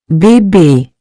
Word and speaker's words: Bébé: Bébé. It means baby. Now practice the pronunciation with me.